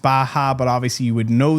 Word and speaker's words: Baja: Viewers that were like messaging me and they were like, oh, here, it's pronounced Baja, but obviously you would know that and all.